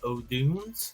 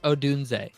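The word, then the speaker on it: Odunze: the ninth pick are going to select Rome OD whoa whoa It's pronounced Odun big tall wide receiver to put on the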